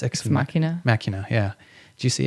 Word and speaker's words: Ex Machina: Did you see I think it's pronounced Ex Machina.